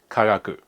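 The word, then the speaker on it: 科学: They're both pronounced kagaku.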